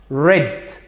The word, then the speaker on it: read: So my brother Ahmed read. But how can I write read? Will I write it R-E-D? No, it's the same spelling, but the pronunciation is different.